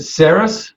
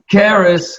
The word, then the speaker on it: Cerys: Is it Cerys? Am I pronouncing that right? Karis, I was way off.